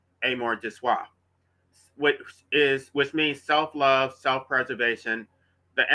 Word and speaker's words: amour de soi: I'm not good with French, but I'm pretty sure it's pronounced amour de soi, which means self-love, self-preservation, the animal drive to protect one's own life and well-being.